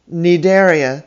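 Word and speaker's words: Cnidaria: o r a and nedaria spelled c n i d a r i a you will notice that they each began with a silent letter c why you'll have to ask the ancient greeks charles moya tell us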